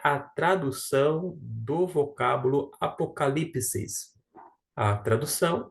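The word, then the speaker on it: ἀποκάλυψις: Apocalipsis. Deixa eu grifar somente o termo apocalipsis. Apocalipsis. Por que apocalipsis? Porque aqui está a sílaba tônica, é indicada por esta acentuação aqui, ó.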